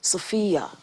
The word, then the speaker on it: Sophy-Yah: Sophy-Yah. It's the same pronunciation, but just different spelling.